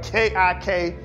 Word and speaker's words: Kik: Or they say it like this, 'Mom, kick us. We'll kick you back,' right? K-I-K, Kik."